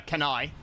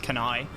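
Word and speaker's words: Cannae: That um uh that the that and then the Hannibal beating the Romans at uh Canai uh can Cana as as it some people might say, but it's actually pronounced Canai.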